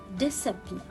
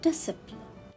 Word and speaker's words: discipline: letter c conscience and here the word decipher discipline again without letter c so let's read all